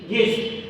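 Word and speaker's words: guest: থাকবে যেমন এখানে জি ইউ ই এস থি গেস্ট গেস্ট অর্থ অতিথি এখানে ইউ সাইলেন্ট রয়েছে পরের শব্দটি গার্ড জি ইউ এই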